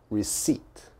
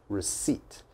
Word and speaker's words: receipt: do not pronounce the p so it's receipt receipt never never never never say receipt or something like that that is definitely wrong receipt receipt you have to be confident receipt the